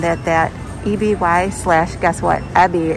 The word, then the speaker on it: EBY: Totally stunned that EBY slash, guess what, Ebby is how it's pronounced. I found that out later than after I posted the video. So it is Ebby, not EBY, but that bralette was amazing underneath.